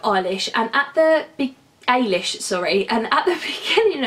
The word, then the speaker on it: Eilis: in my head as Ellis and but when I watched the film they were pronouncing it as Irish which is obviously the Irish pronunciation of it so I'm glad I